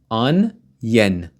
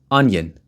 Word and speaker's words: onion: onion I know a lot of people pronounce this wrongly onion onen onion onion not onion onion onion one large onion one